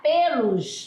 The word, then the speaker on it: pelos: macios ó pelos Ó mas o som a marcação é fechada tá pelos a pronúncia Quando você